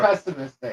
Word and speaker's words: pessimistic: There's no T. Pessimistic.